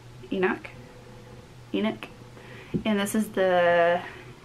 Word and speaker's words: Enoch: this is by suzanne um how do you pronounce her last name enoch enoch and this is the um handbook to